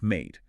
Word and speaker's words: MATE: spotlighting our featured solutionist, Mate the Label. And we should probably say upfront, uh, when we say mate, it rhymes with date or late. Good point. Mate the label, not Maddie.